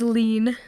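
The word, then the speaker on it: Hlín: Goddess that she originally it was H not H it's lean what yeah so it's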